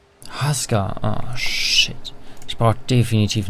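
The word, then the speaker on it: Huskar: It's pronounced Husker.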